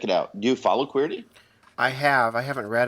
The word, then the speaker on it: Queerty: while but it's qu it's queer it's spelled qu e e RT Y and of course it's a take on the keyboard the QWERTY keyboard not everybody knows that